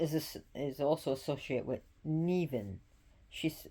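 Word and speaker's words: Nemain: is also associated with nean she's it's spelled NE m a i n but is nean which means venomous and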